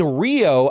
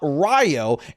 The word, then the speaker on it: Rio: His name is Rio, as in river, not Rio, and Bravo.